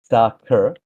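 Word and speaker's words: Saqr: Uh, it's pronounced uh sakur with a soft a like sacker. It's actually Arabic for falcon, which ties the game's name, Falcon's paradox.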